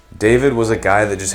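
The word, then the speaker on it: D4VD: give is David or D4 VD I think it's pronounced David though I have always had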